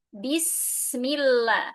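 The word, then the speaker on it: بسم الله: Hati-hati ba dibaca dengan jelas. Bi bukan bis tapi bi ya. Bismillah.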